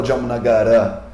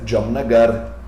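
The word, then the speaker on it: Jamnagar: moro na cidade jamonagar na verdade a palavra se escreve dia mas ninguém fala de amor nagara porque o a é fraco o último a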